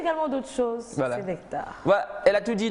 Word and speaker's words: Nek'tar: Bonjour la famille Nectar. Je me demande pourquoi Nectar s'écrit avec un K apostrophe T-A-R.